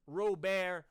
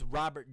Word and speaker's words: Robert: have on this team Luis Rober Jr Luis Robert Jr depends on how you want to pronounce it I'm not going to judge you either way Akuna patata you know